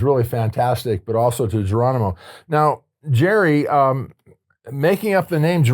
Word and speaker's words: Geronimo: And the name Geronimo is a Spanish name. It's not even an Indian name. No, that I didn't know. It is pronounced Geronimo.